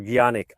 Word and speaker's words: Canik: When I told you earlier that this Canik or Gianik, I'm too used to calling it Canik, but I know that's the wrong way to pronounce the name, but oh well, that's how it stuck.